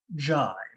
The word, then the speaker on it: Jime: My name is pronounced Jime, not Jim, Jime.